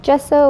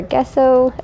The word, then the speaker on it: gesso: step next i took some gesso or gesso i hear it pronounced both ways i'm pretty sure it's